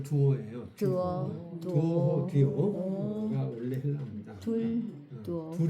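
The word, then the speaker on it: duo: 발음을 듀오. 듀오라고 영어식으로 한 거고 네. 원래 헬라어와 라틴어는 두오예요.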